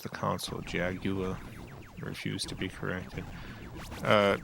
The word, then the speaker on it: Jaguar: In England, I do think it is the Jaguar. UFO detected. Wave complete. Ah. Game over. Oh my god. Well, let's try again. Get ready. Just the console, though. To pronounce the cat's name in typical American English. So you're treating the Atari and Jaguar like the car company. So I believe you're supposed to say Jaguar, even if you're in the U.S.